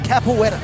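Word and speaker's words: capoeira: Yes, capoetta.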